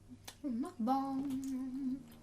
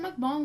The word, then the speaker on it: mukbang: It says the mukbang pronunciation is a bit tricky. Most Western mukbangers pronounce it exactly as it looks, mukbang. But in Korean it's pronounced mukbang.